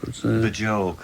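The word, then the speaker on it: Björk: But first of all, you stayed in in in Burk's house or as you pronounced her the other day. Bjork.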